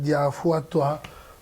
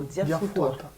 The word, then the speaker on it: Diafutua: Et voilà, elle est là avec nous, on l'appelle Diafouatoua Blandine. J'ai bien prononcé? Non, Diafoutoua.